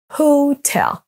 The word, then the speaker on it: hotel: Les deux mots à l'écran maintenant sont accentués sur la deuxième syllabe, hotel, hotel.